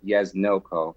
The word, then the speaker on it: Yesdnil Co.: backwards which was my father's name and it's pronounced yes no ko so lindsay backwards and co was a breezy